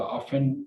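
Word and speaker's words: often: और इसी तरह से आपने देखा होगा ऑफन, उसको ऑफ्टन भी जो है वो कहते हैं, या शेड्यूलिंग जो है वो कहा जाता है, उसको स्केड्यूल भी कहा जाता है।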